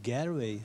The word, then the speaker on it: Galway: Das ist ein A, oder? Galway. Ah, ich kann es dir gar nicht genau sagen, wieso, aber es wird auf jeden Fall Galway ausgesprochen.